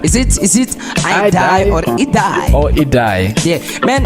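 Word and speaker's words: Idai: And I was laughing yesterday actually, looking at the comments, you know, in terms of the pronunciation of the cyclone there. Some people they say is I die, some people they say is it die, you know.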